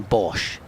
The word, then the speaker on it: Bosch: player for Essex has taken a wicket Ethan Bosch oh great name Bosch uh it's spelled very South African way though b o